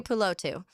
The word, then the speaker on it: Tuipulotu: Tuipulotu.